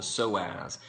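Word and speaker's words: psoas: it's a big muscle called the soaz that is spelled PS OAS go look it up uh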